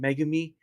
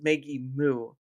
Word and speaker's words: Megimu: Anyway, I was letting them know earlier that I've been saying your name wrong. I was actually saying Megami, and then I had to kind of go over it. It's like, no, it's Maggie Moo.